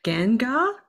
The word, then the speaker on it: Gangar: make sure you guys check out um and Gengar okay just correct me if I said it wrong is Gengar yeah okay yeah all right that sounds embarrassing pronounce it wrong it means uh it means